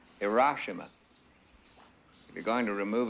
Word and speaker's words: Hiroshima: It's pronounced Hiroshima.